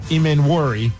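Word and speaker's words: Emmanwori: And also, shockingly, their rookie, Nick Imenwori.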